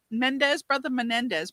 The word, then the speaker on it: Menendez: I guess maybe if the Menendez brothers.